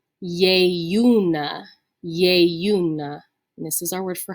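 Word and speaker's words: ieiuna: that consonantal eye here remember that's going to be a yu sound with that long e that's pronounced a so this word is going to be yey una this is our word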